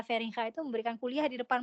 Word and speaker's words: Feringa: Kalau di Belanda tuh G bacanya G gitu ya. Di beliau namanya Feringa seperti ini.